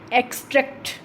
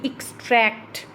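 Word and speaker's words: extract: अब यहाँ पर इसकी प्रोनाउंसिएशन रहेगी एक्सट्रैक्ट, एक्सट्रैक्ट, ट्रैक्ट को हम लंबा बोल रहे हैं, तो इसकी जो है यहाँ पे स्ट्रेस रहेगा सेकंड वाले सिलेबल पर।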